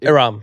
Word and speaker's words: Ihram: Ihram. Ihram, right?